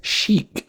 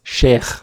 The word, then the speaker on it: sheikh: She says sheik. That's how Westerners say the word, likely because the kha sound can be tough. In Arabic, it's pronounced sheikh.